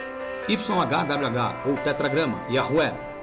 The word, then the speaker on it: Yahweh: Quando surge o tetragrama YHwh ou em hebraico yod rei fav rei cuja pronúncia é Yahué na história dos antigos hebreus.